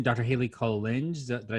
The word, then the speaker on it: Collinge: Hayley Collinge. Did I say it right? Collinge, yeah.